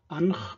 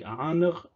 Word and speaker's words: ankh: So in Egyptian we have this word, which is conventionally pronounced ankh by some Egyptologists, or if they're Arabic speakers, sometimes they say ankh, though the reconstructed pronunciation was probably more like aanr.